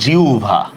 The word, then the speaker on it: জিহ্বা: আবার এই দেখেন, এটা কিন্তু জিহ্বা না, এই যে আমরা পড়ি না, এটা হবে জিহ্বা, বুঝতে পারছেন?